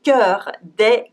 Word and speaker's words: cœur: So beware, this strange vowel sign and its pronunciation is E, and it's written O-E. We say E dans l'eau, E dans l'eau. The same as in un œuf, an egg.